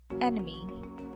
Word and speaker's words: enemy: celebrate celebrate celebrate celebrate enemy enemy enemy enemy enemy so the second part is the unstressed or schwa sound and then next is